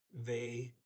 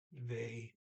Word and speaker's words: ved: Ja, jag kan icke sätta den vid dörren. Yes, I cannot set it by the door. Word for word. Yeah, yes, I can, icke, not, sätta, put, den, it, they, that's VED with a silent D, by the door, dura.